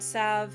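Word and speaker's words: salve: faults that resist all sav or mending and sav is spelled s-a-l-v-e for clarity that resist all sav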